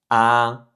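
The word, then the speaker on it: 啊: Et donc, rien qu'avec ce son, vous savez déjà prononcer votre premier caractère chinois, donc qui se prononce A, A.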